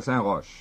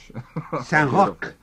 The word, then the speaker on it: Saint-Roch: Saint-Roch. Yeah, we found out from the Quebecois. There's a town just outside of Quebec City, and you must say Saint-Roch, even though it's spelled R-O-C-H, in this particular case.